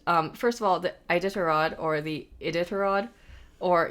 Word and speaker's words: Iditarod: all right dog sled races I'm going to pronounce this wrong because I've never heard it said out loud the idod idod i d i t a r o d